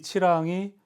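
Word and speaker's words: Chi Lăng: 그 침략해오는 치랑이라고 하는데 발음 그대로 읽으면 돼. 영문이니까 발음 기호처럼 치랑. 아이는 애예요. 이렇게. 협곡 같은 한자어인데 이 치랑이 아까 응옥교에서부터 쭉 중국에서 내려오는 세력을 맞아서 싸우던 육로의 관문이에요.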